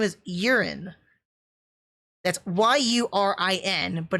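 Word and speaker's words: Yurin: but her name is urine that's y-u-r-i-n but it's pronounced urine like your pee i i i it's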